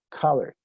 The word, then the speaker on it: color: La pronunciación correcta en inglés, con mucha atención, es color. Color.